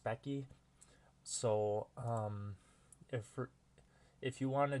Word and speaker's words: Speccy: I used to call it Specy, but it's actually pronounced Speccy.